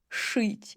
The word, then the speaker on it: шить: So, if you read и after ж, ш, ч, and щ, it will sound as ы. Жить, жираф. Шить. Yeah, it sounds like ы, but we always will write и.